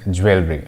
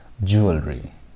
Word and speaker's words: jewelry: course it's very it's very fancy word we pronounce it as jewelry okay but the correct pronunciation of this word is jewelry jewelry okay jewelry is something that people wear